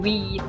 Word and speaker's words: wheat: Most of them are farmers, and they grow corn and wheat, which pronounced with a T, not with a D.